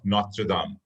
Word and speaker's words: Notre Dame: So my second question here is, David Gura works for the University of Notre Dame. The pronunciation is Notre Dame. It's a French university, Notre Dame.